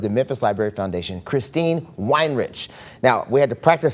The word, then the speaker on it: Weinrich: What we drink and what you can be, right?